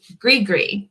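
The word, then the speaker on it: gris-gris: one is and it does not look like it sounds either grigri which is spelled g-r-i-s-g-i-g-r-i-s so greed gree what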